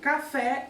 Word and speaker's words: café: Então, olha lá, na palavra café, por exemplo, a sílaba mais forte, obviamente, é o fé, né? Café, a sílaba mais intensa.